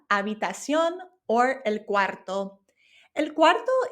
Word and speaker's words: habitación: And remember, this is spelled with an H, but we don't pronounce the H in Spanish. So it becomes la habitación or el cuarto.